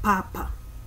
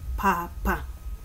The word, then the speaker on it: papa: in the bukusu language it's pronounced more as a smooth transition from one syllable to another so it's papa mother when it come